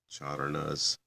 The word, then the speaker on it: Charana: Yeah, it's spelled C, in transliterated, it's C-A with a line over it, R-A-N with a dot under it, A, and pluralized S. So it's Charana, singular.